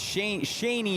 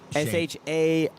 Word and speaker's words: Shaney: It's Shaney is the correct pronunciation, right? Shani. Yeah, Shaney.